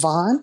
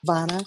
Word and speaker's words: Vana: Yeah, is it Vaughn? Is that correct? Am I pronouncing it correctly? Vana. Vana. Yeah, Vana.